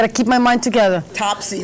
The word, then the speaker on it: Topsy: Topsy, not Tipsy. Topsy. I said Tipsy? Oh, you correct me, please, as many times as you want. Topsy. Topsy. He sounds... Remember Top Hat.